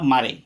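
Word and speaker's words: Mare: Poet हैं Walter डिला मारे। हाँ, आपने सही सुना, इसका उच्चारण जो करेंगे मारे करेंगे और इनका फोटो भी आप देख रहे हैं।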